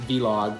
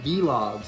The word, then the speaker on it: vlog: caught you up last v-log who am I Doug from Channel awesome why does he still call them v-logs how does he not know it's pronounced Vlog maybe he just likes